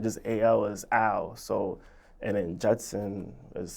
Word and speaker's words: AL: you ask that because a lot of people they'll pronounce it as a l instead of Al but the only reason